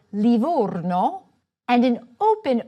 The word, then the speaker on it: Livorno: A closed "o" for Livorno and an open "o" in Otranto.